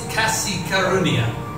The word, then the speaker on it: kasih karunia: is this right yes so you say it's kasi karunia yeah is that how do you say it